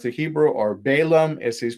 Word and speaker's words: Balaam: to briefly look at is balaam balaam or bilaam as he's pronounced the hebrew or balaam as he's pronounced in